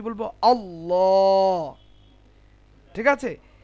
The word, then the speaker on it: আল্লাহ: আল্লাহ। ঠিক আছে, কি বলবো? আল্লাহ শব্দের লামের পূর্বে যদি জাবার অথবা পেশ থাকে তাহলে আল্লাহ শব্দের লামকে মোটা করে উচ্চারণ করতে হবে, যেমন আল্লাহ।